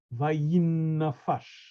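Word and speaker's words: וַיִּנָּפַשׁ: And here the same thing, vayinafash. The accent is on the last syllable.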